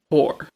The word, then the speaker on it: Hoare: Now, this girl's name is Shauna Hoare. That's her name. Shauna Hoare. It's spelled Hoare.